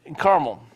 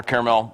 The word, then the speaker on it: Carmel: And they are missing nothing all the time when they were in Carmel. Or Carmel, whichever you want to pronounce it.